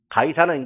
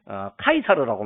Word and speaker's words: 카이사르: 날은 로마 황제를 말합니다 가이사는 이제 그 로마의 장군 캐사르라고 했는데 카이사르라고 말하죠 그이 카이사르는 한국식으로 말하면 가이사 발음이 됐습니다 아구 수도는 또 아우구스투스를